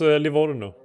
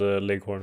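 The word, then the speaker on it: Livorno: you um finding out how that's actually pronounced but yeah it was Leo wasn't it oh yeah okay but but in English it's called Lorn for some reason yeah but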